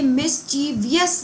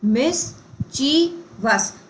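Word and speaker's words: mischievous: ये मिसचीवियस नहीं होता है। अगेन यही मेरी इनकरेक्टली स्पेल्ट वर्ड है। ये वर्ड होता है मिस देन ची और वस वियस नहीं होता है। है ना? ये आई जो है ये फिजूल का दे रखा है। तो ये स्पेलिंग क्या होती है? मिस ची वस।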